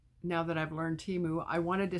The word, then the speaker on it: Temu: ever get that right now that I've learned Teemu I wanted to say what was I saying